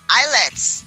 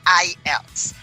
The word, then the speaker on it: IELTS: an addition for this I heard a lot of people saying eyelets all right so everybody uh the correct pronouncing of that words is not isets it's I Els International English language training